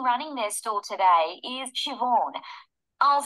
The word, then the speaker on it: Siobhan: park the person running their store today is Siobhan I'll spell that for you it's an old Irish name